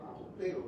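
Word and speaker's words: ἀποστέλλω: Esta palabra se deriva del verbo apostelo, pronúnciese apostelo, ¿verdad?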